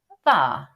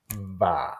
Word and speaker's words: Hvar: As I said, it's called Hvar. Hvar, H-V-A-R. But as we all know, H is silent.